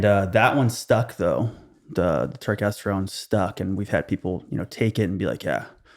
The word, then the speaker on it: turkesterone: But you guys, so kind of to dig into a specific one, turkesterone, that's how you would pronounce it?